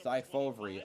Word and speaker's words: Cy Fovri: Cy Fovri. Okay, that's how you pronounce it.